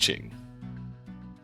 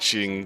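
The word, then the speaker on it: Qing: is in fact pronounced ching The Q but hang on I actually want to confirm that so it's Ching but not Shing that CH sound isn't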